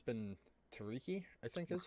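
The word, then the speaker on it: Tiryki: hexes, and we are currently along the river Tiriyaki, or Tiriki. Ah, man, it's been Tariki, I think is how. River teriyaki. Is that- Yeah, River Teriyaki. It's where all That the teriyaki. pronunciation is Tiriki.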